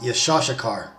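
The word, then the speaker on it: יששכר: The name Issachar is in Hebrew pronounced Yeshashakar, and that basically means he is hired.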